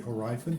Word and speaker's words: Hierophant: The Hierophant, or the Hierophant as some pronounce it, it's all about new beginnings.